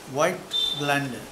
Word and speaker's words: Voigtländer: Voigtländer, German camera. How you spell it? V-O-I-G-H-T-L-A-N-D-E-R-O-N-D-E-R. Voigtländer.